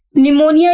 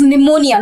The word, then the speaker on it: pneumonia: a habit of stealing pneumonia is basically a disease in which a person suffers from cold it is pneumonia not pneumonia p is silent over here insomnia is when we